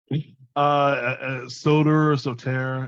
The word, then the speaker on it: Soter: What is the proper pronunciation? Soter. It's a derivative of Greek for protector.